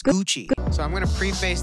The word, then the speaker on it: Gucci: The two C's make it a CH, guys. Gucci. It's Gucci.